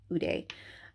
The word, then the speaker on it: Hodie: It's spelled Hodie, and I believe it's pronounced Ude, Ude, Ude, or Hude, but I think it's Ude.